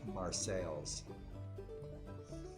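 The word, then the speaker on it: Marseilles: illinois cairo cairo and marsai is pronounced marsales welcome to illinois [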